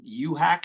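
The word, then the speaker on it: UHAC: affordable housing you mentioned is it you hack is that how you say it u-h-a-c right yes uniform housing administrative code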